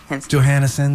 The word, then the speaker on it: Johanesen: You're tuned in to WNF's live music showcase in Tampa, and that is Johanesen. Yes. Johanesen, right? Yeah. Johanesen.